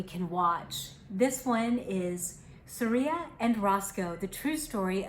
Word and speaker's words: Surya: Here is the true story of an amazing friendship between an orangutan named Surya, and it tells you how to say it, Surya, and a dog named Roscoe that began at a wildlife preserve in South Carolina.